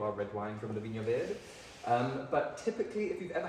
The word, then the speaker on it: Vinho Verde: And it's pronounced Vinho Verde in Portuguese, not Vinho Verde.